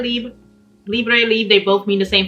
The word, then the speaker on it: Libre: of a leave but you do pronounce it as a french form which is leap so it's why i said lib libre leave they both mean the